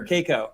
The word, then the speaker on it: Cayko: it's a great icebreaker caico you know yeah now it's psycho that's what i told